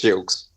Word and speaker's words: Gilkes: It's Gilkes.